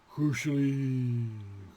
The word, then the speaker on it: Cùisle: Cùisle.